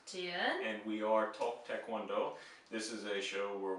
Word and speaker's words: 태권도: Now, one thing in the romanization of this is it often is spelled with a K in the middle, but there's no K sound, right? Yeah. This is more of a G sound.